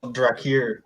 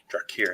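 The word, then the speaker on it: Draeir: metal project too called drir drir how do you spell it d r a e i r it's exactly how sounds right there that's that's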